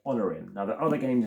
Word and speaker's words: Onirim: It is not Onirim, it is Honorim. That's how you say it, Honorim.